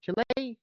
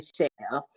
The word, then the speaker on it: Chile: Chile. How do you pronounce it? That's actually Shell.